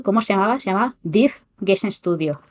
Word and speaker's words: DIV: Se llamaba DIF Gen Studio y DIF se escribe DIV y estaba para MS2.